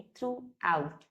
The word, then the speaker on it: throughout: हर जगह पूरी समय के लिए हम थ्रू आउट वर्ड का इस्तेमाल करते हैं जिसका प्रोनाउंसिएशन है थ्रू आउट।